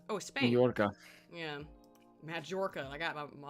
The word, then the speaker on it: Mallorca: Majorca. Oh, Spain. Mallorca.